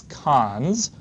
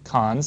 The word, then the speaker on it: cons: this colon colon operation, which I'll pronounce cons for constructing a list, cons, C-O-N-S.